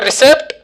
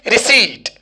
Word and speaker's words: receipt: this is receipt received so from now you will never say that give me a recept or etcetera but its actual buddhist section is receipt yes receive inshallah you